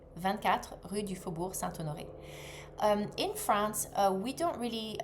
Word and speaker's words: Rue du Faubourg Saint-Honoré: So, I will say that again so that you can pronounce it. So, 24 Rue du Faubourg Saint-Honoré. 24 Rue du Faubourg Saint-Honoré.